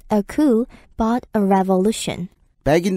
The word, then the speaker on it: coup: 스펠링은 C-O-U-P라서 마치 coup처럼 보이지만 발음할 때 P 사운드가 안 나고요. coup라고 발음합니다. 쿠데타가 영어가 아니었군요.